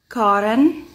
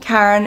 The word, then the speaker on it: Karin: It's pronounced Karin, but I go by Karin, Karen, even if it's been a doozy of a year for Karens or.